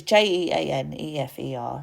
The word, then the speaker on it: Jeanefer: Hopefully I pronounced that right, because it might be Jennifer. It's Jeanefer, so make of that what you will, but I would pronounce that Jennifer or Jennifer.